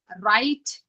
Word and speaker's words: write: When W R comes together, W remains silent and you can hear the sound of letter R, which is ra.